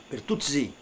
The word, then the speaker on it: Bertuzzi: Bertuccio, ficou Bertucci, e a pronúncia do Vêneto era Bertuzzi.